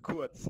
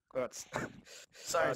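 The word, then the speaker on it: Kurz: Yeah, but it is quartz, not quartz. sorry. It's the Western pronunciation.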